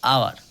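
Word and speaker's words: hour: কখনো কখনো H silent থাকে, যেমন আওয়ার। তো এই 4টা এখানে গেল।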